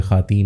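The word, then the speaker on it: خواتین: है खवातीन की बजाय खवातीन हो मतलब जब खे वाओ के बाद जब अलिफ आ जाए तो खे और अलिफ बोला जाता है वाओ आपका साइलेंट हो जाता है कि जब आपने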